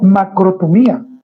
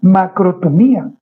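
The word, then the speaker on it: makrothumía: Recuerde que la palabra paciencia en el libro de Gálatas viene del griego macrotumía y lleva tilde en la i. Macrotumía.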